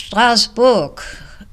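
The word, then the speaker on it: Strasbourg: the city of Strasburg now it's stasbor pronounced and written French and unfortunately I was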